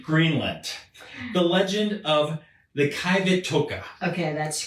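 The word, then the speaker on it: Qivittoq: language it's still the Q but apparently it's pronounced so KET TOA so this pertains more to multiple beings rather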